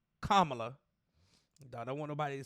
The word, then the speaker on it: Kamala: in front of Kamala kamla let me get her name right kamla I don't want nobody